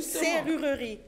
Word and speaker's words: serrurerie: Écoute-moi bien. Serrurerie dictter la prononciation est très importante. Quand tu dis serrurerie tu vas tu vas tromper l'enfant.